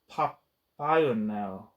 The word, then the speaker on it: Παπαϊωάννου: affinity with his work, Costas Axelos and Costas Papaianu. Let me see how that's pronounced, because I'm going to be saying that name a lot.